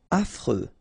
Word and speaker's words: affreux: Affreux. Final X not pronounced. And then you get this fr.